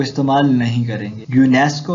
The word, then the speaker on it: UNESCO: यूनेस्को है, इसमें UNESCO नहीं पढ़ा हमने, बल्कि हमने इसका एक पूरा वर्ड प्रोनाउंस किया है, तो यहाँ पे भी दा इस्तेमाल नहीं होगा.